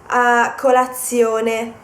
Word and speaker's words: colazione: So, colazione, stazione. I'm trying not to stress the Z. Colazione, stazione. You pronounce it with just one Z because that's the way it is in Italian.